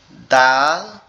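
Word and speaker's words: دال: দালের উচ্চারণের ক্ষেত্রে কি করতে হবে, দালের উচ্চারণ ক্ষেত্রে আমাদের জিহ্বার আগা সামনের গোড়ার 2 দাঁতের আগার সঙ্গে লাগায় এভাবে উচ্চারণ করতে হবে, দাল দাল দাল।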